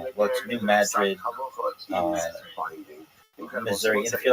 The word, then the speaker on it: New Madrid: area of like what's New Madrid uh Missouri. And if you're like, why are you calling it Madrid and not Madrid? It's not pronounced like Madrid like in Spain.